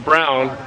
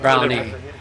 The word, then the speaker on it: Browne: So my last name is Browne, but my dad is Bob Browne is Yep. That Grandma's is pronounced Brown, not Brownie. Browne, yes. Yeah, like Norm Brown, but no E.